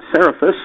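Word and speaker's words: Cerefice: For those of you that don't know, Tom's a certified public accountant, and he's president of Seraphis. Did I pronounce that correctly?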